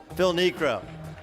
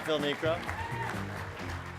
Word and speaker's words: Phil Niekro: And there's names you need to pronounce correctly, like Phil Niekro. Phil Niekro. 5-time All-Star Phil Niekro.